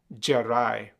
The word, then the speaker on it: Jarai: So in the past, in the 1800s, perhaps even in the early 1900s, it was common for them to say Jarai, but they spell it as Djarai.